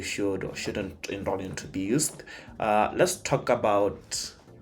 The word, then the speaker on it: BIUST: the word be used so it's be used right uh so I've seen people spell it as b u i s t uh and I'm like that doesn't sound like boed that's boist I mean like I'd